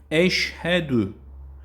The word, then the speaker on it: eşhedü: Eşhedü. Buradaki yorgun normal h çıkıyor. Eşhedü.